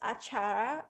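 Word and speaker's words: acar: we pronounce achara it's a chara or like a chara or like a yeah you pronounce it correctly it's achara in indonesia achara means even yeah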